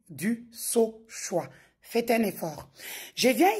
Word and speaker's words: Dusauchoy: Ces derniers temps, vu que je suis beaucoup cité, chacun y va avec sa prononciation. Je suis du sa choix.